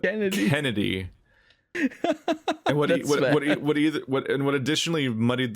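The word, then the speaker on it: Canidae: means he's a wolf like canaday like cnn c-a-n-i-d-a-e they pronounce it in b stars in the english dub kennedy what and what additionally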